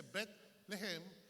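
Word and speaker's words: Bet Lehem: La ciudad de Belén, que no se dice Belén, se dice Bet lejem.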